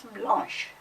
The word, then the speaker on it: blanche: Even the pronunciation changes. Blanc becomes blanche.